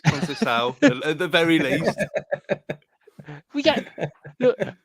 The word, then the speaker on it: Conceição: Sergio Canseco? No. What did I go for? What did I go for? That's probably the worst one you've ever done. It's Conceição, at the very least.